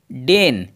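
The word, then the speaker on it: deign: है बड़े आकार में अब देखिए यहां पर गाइस डेन डी ई आई जी एन डेन यहां पर जी साइलेंट रहेगा डेन डेन का हिंदी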